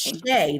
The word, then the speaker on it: Shea: It's Shea, like shea butter, because we're not dry people. Like shea Because butter. we are not dry. We are melanated. We smell like shea.